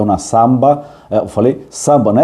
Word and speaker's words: zamba: A samba deles é com Z, né? Que seria, se a gente fosse ler em português, seria zamba, mas se pronuncia samba. Então, uma samba Al Jardín de la República.